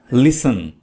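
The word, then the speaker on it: listen: लिसन लिसन में T silent है। टी को नहीं पढ़ना है।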